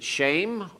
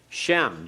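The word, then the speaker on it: שֵׁם: right shame ha ear now is it shame or is it what remember it has to shorten Shem just like Bane Bend shame Shem all right Shem shortens Shem shortens yes well all uh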